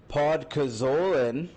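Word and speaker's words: Podkolzin: They flipped a fourth for Vasily Podkozolin. That's how you say his name.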